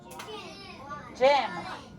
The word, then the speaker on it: gym: again jim okay clap it out how many syllables jim now jim jim is being crazy jim is